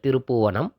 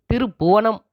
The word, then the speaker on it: திருப்பூவணம்: 20வது கிலோமீட்டர்ல இருக்கு இந்த திருப்புவனம் பெயர் பலகையிலயும் சரி கூகுள்லயும் சரி திருபுவனம் அப்படின்னு தான் குறிப்பிடப்பட்டிருக்கு திருப்புவனம் அப்படிங்கறது வேறொரு அர்த்தத்தைக் கொடுக்கும் சொல்லா மாறுது அதுமட்டுமில்லாம கும்பகோணம் பக்கத்துல திருபுவனம் அப்படிங்கிற இன்னொரு ஊர் இருக்கு திருப்பூவனமே சரியான உச்சரிப்பு நம் குடும்பத்தின் ஆரோக்கியத்திற்கும் நம்முடைய